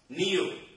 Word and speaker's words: knew: Knew. And K is what is silent.